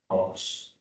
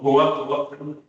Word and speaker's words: hoax: Jadi teman-teman setelah habis kuliah saya, kalau baca OAX itu bacanya hoax. Kan keluar. besok. Pejabat-pejabat itu ngomong hoak.